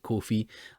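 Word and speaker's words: Ko-fi: also set up uh it's called a coffee i had a luke and they pronounced it coffee i set up a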